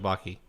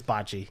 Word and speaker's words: Bachi: That's correct, or is it Baki? It's Bachi.